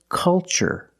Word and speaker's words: culture: So the pronunciation, that's right, it's ch. The first word, culture. And the second word, cultural. Also remember the first syllable is a short U, like cup and up. Make a relaxed sound. Culture and cultural.